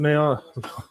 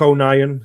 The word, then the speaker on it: O'Nien: Oh, here comes Luke Neil. Can't say his name. Luke O'Nien, sorry.